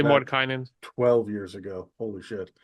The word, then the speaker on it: Mordenkainen: Like I was saying Mordenkainen instead of Mordenkainen for the majority of the podcast episodes, and I've just trained everybody else to say Mordenkainen at this point, just